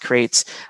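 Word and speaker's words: Qrates: with and love is crates this is at the bottom that you can see at this this slide right here q-r-a-t-e-s it's pronounced crates i met the one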